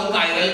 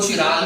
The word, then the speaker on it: chiral: कायरलिटी क्या होता है, बहुत सारे लोग इसको चिराल करके भी प्रोनाउंस करते हैं, तो उसमें टेंशन मत लेना। सर ने बताया कायरल और किसी और ने बता दिया इसको चिराल, तो सर ने कुछ अलग पढ़ा दिया क्या, सो आंसर इज नो।